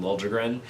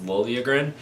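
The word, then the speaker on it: Liljegren: play Timothy lilagan I I know the Vegas broadcast kept saying lren which if that's what he actually wants to be called great I that that's easier to pronounce but in all of the Toronto stuff that I've been watching in The Last 5 Years it's Lila grin but Dave and Shane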